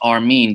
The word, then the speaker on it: Armin: uh but it's a-r-m-i-n so it really is our mean the way it's pronounced and uh you know way before i even started rapping i was probably like 12 or 13.